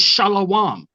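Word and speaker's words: שלום: Oh, The way to pronounce peace in the ancient Hebrew is shalom.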